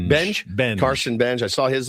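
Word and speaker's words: Benge: Benj.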